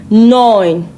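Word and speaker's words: neun: So when you come across EU in a German word, it is pronounced oi.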